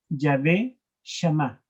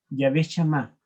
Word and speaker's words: Yahvé Shammah: En hebreo se pronuncia Yahvé Shammah. Yahvé Shammah.